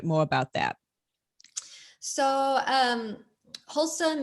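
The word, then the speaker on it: Holcim: um is that spell h-o-h-o-l-s-u-m how's that spelled it's spelled h-o-l-c-i-m c-i-m wholesome so that's the name of a cement company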